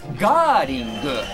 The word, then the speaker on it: Gerling: You know, in Japanese, 日本語では。It's Gerling. In Japanese, it's Gerling. How do you pronounce the band name?